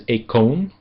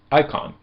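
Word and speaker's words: εἰκών: important word in Greek that uses this is econ which you probably will not recognize with that pronunciation. However, if I change the vowel sounds a little bit you'll probably recognize it immediately. Icon.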